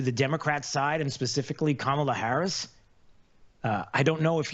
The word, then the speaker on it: Kamala: It's not Kamala. It's not Kamala. It's Kamala.